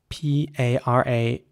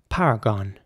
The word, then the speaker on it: paragon: is spelled p-a-r-a-g-o-n and in British English it would be paragon para gone get a message to this Paragon of yours just squeakly and in American English it would be paragon the o principle applies again so it's power gone and Paragon this spell